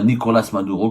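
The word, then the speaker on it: Nicolás Maduro: Nicolas Maduro la Nicolas Maduro comme on le prononce en espagnol demeure très controversé.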